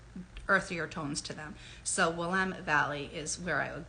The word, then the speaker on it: Willamette: specifically the Willamette Valley spelled Willamette people say Willamette but I'm like kind of a stickler for pronunciation so when I went out there in